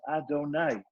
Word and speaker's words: Adonai: It's pronounced Adonai.